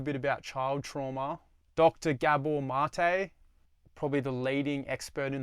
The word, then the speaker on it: Gabor Maté: Gabor Maté, probably the leading expert in the world on the subject. He's done podcasts with Joe Rogan, Tim Ferriss, pretty much any Dr. Gabor Maté, Gabor, Maté, spelt mate.